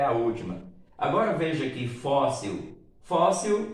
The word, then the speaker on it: fóssil: Agora veja aqui fóssil. Fóssil, o plural é fósseis. Agora você observa, fóssil não é uma palavra oxítona, é uma paroxítona. A sílaba tônica é a penúltima.